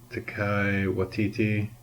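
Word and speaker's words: Taika Waititi: to say his name it's like Tiger but without the G or the r ta ta okay I'm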